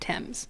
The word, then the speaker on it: Thames: It does, but it's pronounced Thames.